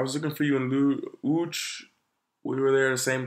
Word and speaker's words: Łódź: Even when I was going to Łódź, if you guys don't know, L-O-D-E, Lodz. This is how you say it in Polish, so Łódź.